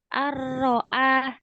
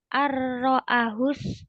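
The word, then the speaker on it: رآه: ayat ke-7 itu Ar-ro'ah. Nah, itu A-nya itu dua ketukan ya Bunda ya. Jadi dipanjangkan dua ketukan. Tadi Bunda bacanya ar-ro'ahus tagna.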